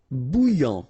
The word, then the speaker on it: bouillant: Bouillant, final T not pronounced. A and together, remember, nasal, en, okay? And then here you get bou, alright? And after that you get this yan, okay?